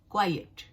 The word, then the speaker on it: quiet: और मैं इसकी जो आपने पहले की जो उसकी स्पेलिंग देखी होगी, तो पहले जो क्वाइट है उसकी स्पेलिंग है QUIET, QUIET, क्वाइट।